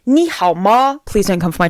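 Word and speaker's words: 你好吗: how are you but you can't just say nihama you say Nihao ma please don't come from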